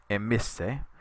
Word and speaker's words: emisse: Emera, the perfect form, is emisse. Notice how the E here lengthens, so you get emera and then aim isse. So make sure you emphasize the pronunciation on that.